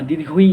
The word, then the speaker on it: দীর্ঘ ই: এটাকে আমরা বলে থাকি দীর্ঘই বা দীর্ঘই, এরকম ভাবে বলি। এটা সঠিক উচ্চারণ হবে দীর্ঘ ই, দীর্ঘ ই, দীর্ঘ ই। এটা একটু টান হবে, দীর্ঘ ই, এরকম ভাবে টান হবে।